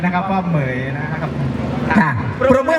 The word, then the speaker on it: เหมรฺย: ครับ ออก เสียง ดี ๆ นะ ครับ ว่า เหมย นะ ครับ ค่ะ ปรบ มือ ให้ น้อง มังกร